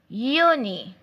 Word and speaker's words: Juni: So the next month of the year is Juni. Juni. Juni. Juni means June. June in English language. Like I said earlier, the letter J in German language is pronounced as Y in English.